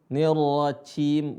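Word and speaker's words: الرجيم: Perhatikan pengucapan "jim, jim", dan jangan menggunakan "ch". 'Jim' bukan 'ch'. 'Nir-rajim' , bukan menggunakan 'j', 'nirrajim'.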